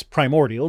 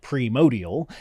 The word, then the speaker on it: primordial: The primordial soup, that's primordial, not primordial, is not the origins of DNA.